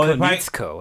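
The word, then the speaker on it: Konietzko: Oh, Konitsko, that's how you say it.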